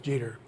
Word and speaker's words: Jeter: explained how to remember how to pronounce your name meter rhymes with jeter very helpful thank you